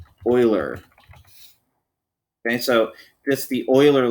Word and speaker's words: Euler: big it's called the euler line it's not pronounced euler it looks like euler but it's pronounced euler okay so just the euler line there and